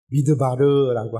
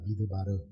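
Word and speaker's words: מדבר: 그 책의 이름을 민수기라고 우리는 명명하지만 히브리 성경은 모세오경의 네 번째 책을 미드바르라고 합니다. 미드바르. 우리가 민수기라고 읽는 것처럼 히브리 사람들은 히브리 성경의 네 번째 책을 미드바르라고 읽는데 그 뜻은 우리 말의 뜻처럼 사람을 계속 숫자를 세는 것이 아니라 광야라는 겁니다.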